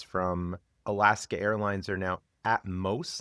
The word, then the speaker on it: Atmos: and representatives from Alaska Airlines are now Atmos and that's how they pronounced it atmost not at miss.